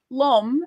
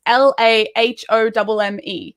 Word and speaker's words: L'homme: Because, like, L'homme is how you say the man, and it's LAHOMME. And I'm like, it's l'homme. Like, that is way shorter than la homme.